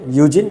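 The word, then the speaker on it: Eugene: इसको आप यूजिन पढ़ेंगे, यूजिन, ई साइलेंट रहेगा, यूजिन पी ओडम।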